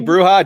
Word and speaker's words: bruja: I think it that- might be Bruja. Definitely the Spanish Yeah.